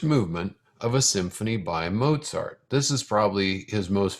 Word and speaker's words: Mozart: first movement of both mozart's symphony number 40. now something else i like about mozart is that his name kinda rhymes with pop tart which is good here